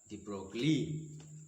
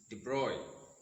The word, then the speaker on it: de Broglie: the boy but but mostly his name is mispronounced as the broccoli because it is b-r-b-r-o-g-l-i-e but in french that is deployed louise de bruyne louise de bruyne thought